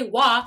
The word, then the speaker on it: Wah: People can say Wah, but I still get called Woo and Wei. What'd she say her name was? Wei? Don't know why. I say Wah like water.